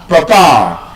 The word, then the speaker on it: papa: I told us the correct pronunciation of that word is what? Papa.